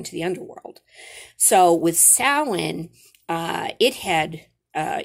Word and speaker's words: Samhain: going into november 1st thousands of years ago samhain is how you pronounce this was a pagan festival uh celebration